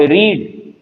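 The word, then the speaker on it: read: अब रीड और रेड, अब ये रीड है और ये रेड है, same spelling, different pronunciation, different tenses, application.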